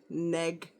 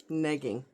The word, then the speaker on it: negging: Rhymes with peg, neg. Not like nagging, but neg with an E, negging.